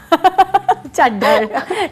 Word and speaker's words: Chaddher: चड्ढर सही बोला ना मैंने? बिकॉज़ अभी इस पर बड़ी डिस्कशन हो रही थी कि प्रोनाउंसिएशन अक्सर लोगों का जो है वो बड़ा मुख्तलिफ हो जाता है इस पर। तो मैंने सही बोला मैम? बिल्कुल सही बोला।